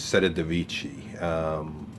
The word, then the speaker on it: Civitavecchia: When you get off the ship in Rome, or actually you're getting off in, if I'm pronouncing it right, it's Civitavecchia.